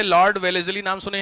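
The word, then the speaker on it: Wellesley: एल इ वाई वेलेसली spelling से कोई मतलब नहीं है वेलेजली डब्ल्यू ई एल ई एस ई एल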